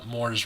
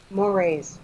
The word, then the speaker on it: mores: You know the word moral? It comes from that. It's the same root word. Mores. Yeah. It's spelled like more, but a more, unlike the eel, a more is like a social norm.